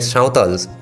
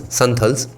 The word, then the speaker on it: Santhal: their properties, which led Sautals, or as non-Bengali speakers pronounce, Santhals, which led Santhals then cross the border and came over to West Bengal, Mandal writes.